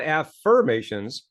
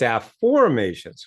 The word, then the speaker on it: afformations: holding up here and it's spelled a-f-f-o-r-m-a-t-i-o-n-s so it's not affirmations it's f formations with an o okay and so as